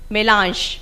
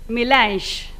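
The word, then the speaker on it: Mélange: Melange. This is a French word, but today I am hearing the pronunciation as Melange, and that's also very true considering the gathering today.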